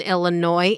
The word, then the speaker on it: Illinois: It's funny because the last part in Illinois is silent.